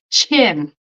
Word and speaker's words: chin: And then the CH, like in muchacha, chin. Chin.